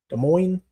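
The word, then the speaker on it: Des Moines: You in De Moines Moines or De Moines because you don't I don't think you pronounce the S. De Moines.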